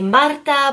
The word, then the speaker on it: Marta: If you're new to my channel, my name is Marta, and if you can roll your R's, you can say Marta, but either way is fine.